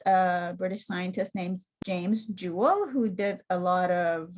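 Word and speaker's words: joule: unit for energy and Jewel um PR pronounced just Jewel um and the symbol for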